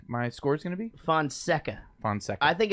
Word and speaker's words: Fonseca: for sinka what's up how do you say her name fun sinka no Fonseca Fonseca finalized I don't see where